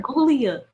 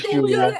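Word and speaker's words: Giulia: He called her Gulia. Sammy. Isn't her name Gilia? Sammy! It's Julia. Ain't crap. Oh, Julia. Oh, good. You know, it was close enough. But yeah, she's Italian. It's spelled for the G.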